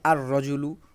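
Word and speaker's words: الرجل: বলা হয়েছে রজলুন থেকে আর রজুলু র এখানে সরাসরি উচ্চারণ হচ্ছে লাম উচ্চারণ হচ্ছে না সাতুন থেকে আসসাতু এদিকে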